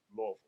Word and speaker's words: Louisville: was a louisville so if i were to spell that out it'll be l-u-h-v-u-l louisville you know but the